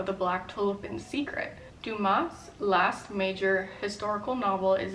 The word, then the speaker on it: Dumas: The next book I bought is The Black Tulip by Alexander Duma. I just recently learned the S is silent, so hopefully that's right.